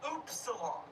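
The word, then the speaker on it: upsilon: Apparently Google says it's oopsilon. How the hell would it be pronounced oops salon?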